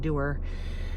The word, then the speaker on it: dewar: So I would aim to have the sperm shipped the day before, because they're sent in a dewar, or I think it's actually pronounced dewar, DEWAR, and that is good for, I believe, 7 days, just depending on what company you buy from.